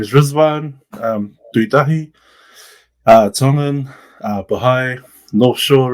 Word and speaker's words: Rizván: now it's called Iran, they pronounce their names with a Z instead of a D. So that's where the remix comes from, and they pronounce it Rizván, or when you hear the Persians say it, they're like Rizván.